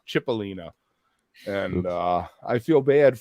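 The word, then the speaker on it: Cipollina: You know, I found out that I was pronouncing John Cipellina's name wrong. Just as an aside, apparently it's Chipelina.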